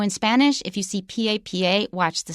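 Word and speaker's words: papá: are both really important so if you say el papa that's your father el papa stress on the second syllable if you change it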